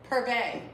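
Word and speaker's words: Purvé: Purvey is how you say it.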